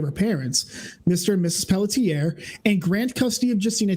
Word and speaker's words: Pelletier: 72 mitochondrial disorder uh by the way it's pelletier we're pronouncing it still wrong apparently it's pelletier according to the chat i don't know